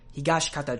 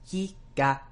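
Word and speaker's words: 東方: pronounce the shi in Higashikata, and they don't really pronounce the in Josuke. These are whispered vowels, and it tends to happen a lot to shi and tsu and tsu.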